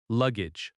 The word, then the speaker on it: luggage: Luggage. The stress is on the first syllable.